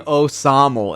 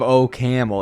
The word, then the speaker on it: OCaml: that's right that's right the AI kept on saying oaml instead of O camel it didn't know how to pronounce it yes that's good are